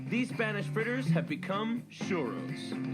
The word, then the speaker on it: XOORO: Spanish fritters have become shuros do you know how to pronounce this it's actually shuroo churo shuro churo as in I'm sure and one thing